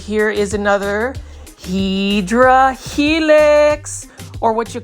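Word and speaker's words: Hedera helix: plant now this plant right here is another hedra helix or what you call the pedera Helix which is the comp the correct way to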